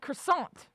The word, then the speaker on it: croissant: and when you speak English you pronounce it croissant you